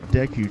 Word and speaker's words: Deku: game now interestingly enough pronouncing it deku is not very far from how i believe they would pronounce it in japanese which would be dec okay now don't feel